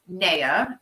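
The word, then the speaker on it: Naya: you pronounce amy's baby's names um so we pronounce neya n-a-y-a and nala uh oh that's a good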